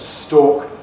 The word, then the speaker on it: stalk: So for people who have a rhotic accent, that is retaining the R, stork, the bird, and stalk, the stem of a plant, are different. But for me and for most English people, stork and stalk are identical.